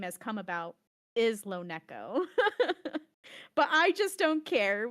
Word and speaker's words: LoNeko: the correct pronunciation, if we're thinking about the way my name has come about, is LoNeko. But I just don't care. Whatever anyone wants to pronounce it, it's perfectly okay with me.